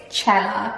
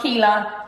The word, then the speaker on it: Cela: My name is Krissy Cela if you're new here, but if you don't know how to pronounce my surname, it's Cela. Not Cela, not Kila, not kilos, not salary. It's Cela.